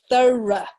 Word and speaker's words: thorough: Okay, very good, yes, so thorough. Okay, thorough. So the GH is completely silent, and that OUGH is quite a tricky set of letters in English because there's